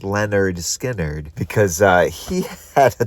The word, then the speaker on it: Lynyrd Skynyrd: They named their band Leonard Skinnard after their high school gym teacher. And then producer Al Cooper decided, hey, why don't you guys call this album pronounced Leonard Skinnard because uh he had